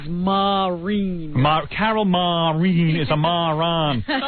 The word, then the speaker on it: Marin: Carol Marin or Marine, as Robin says. I saw a pronunciation guide that said it was Marine.